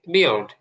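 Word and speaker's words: build: আমরা যদি পড়ি তাহলে বিল্ড, কিন্তু ওরা করবে হচ্ছে বিল্ড, এলটা একটু মোটা করে বিল্ড, এরকম।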